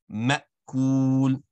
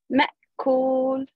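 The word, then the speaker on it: مأكول: I want you to, anytime you see a Hamza with a connect, you want to abruptly stop on the sound. Ma'kul. Try that. Ma'kul.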